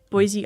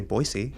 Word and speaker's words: Boise: Boise Idaho. Yeah. You didn't say Boisey. You just said Boise.